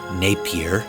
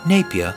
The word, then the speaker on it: Napier: Now, it looks like Napier, but if I'm going to say it like they say it there, Napier is how I'm going to say it.